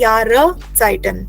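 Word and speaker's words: Jahreszeiten: cyton the यार cyton when you are pronouncing it then we don't usually emphasise on the word Yaris cyton we don't break it when we are saying it इन वन गो it sounds like we आर not saying यार एस वी are just saying यार सन इन the pronunciation because we are saying it so quickly या यस यार सन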